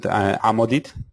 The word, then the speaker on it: Amodit: It's we pronounce it Amodit.